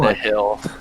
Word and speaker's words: Nihil: how do you pronounce Isaiah's name? Nihil or Neil? Nihil. Nihil?